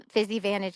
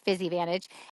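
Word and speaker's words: Physivantage: Fizzy Vantage is spelled P H Y S I V A N T A G E. So like physical advantage. Fizzy Vantage.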